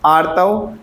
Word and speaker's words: आर्तव: अभी कुछ लोग प्रोनाउंसिएशन भी सही नहीं कर पा रहे होंगे, कुछ पढ़ रहे होंगे तो कुछ और निकल रहा होगा, इसीलिए मैं बोल के बता रहा हूँ। स्तन, आर्तव एंड त्वक।